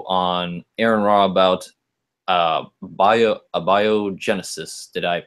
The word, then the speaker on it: abiogenesis: do a video on Aaron raw about bio abiogenesis did I pronounce that right I ate biogenesis is how I've always pronounced it but I don't know if I'm ready abiogenesis yeah and if I'm not mistaken if I